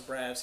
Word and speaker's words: Braff: Like we don't like those Braffs, you know. We're the main Braffs. That'd be cool. No, but it has been helpful to point out Braff like Zach Braff because my last name gets misspelt or mispronounced all the time.